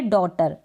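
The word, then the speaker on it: daughter: तब आप क्या करेंगे, GH को प्रोनाउंस नहीं करेंगे। स्पेलिंग्स देखें, जैसे कि यहाँ पर है डॉटर। डॉटर में क्या है, GH से पहले यू आ रहा है, तब हम डॉटर पढ़ रहे हैं।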